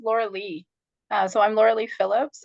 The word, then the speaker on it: Lorelei: It's spelled Lorelei, pronounced Laura Lee.